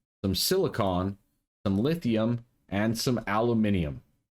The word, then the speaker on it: aluminium: some lithium, and some aluminium. Yes, I said it the way it's spelled. Aluminium. It can also be said aluminum, but this one is aluminium because it's European.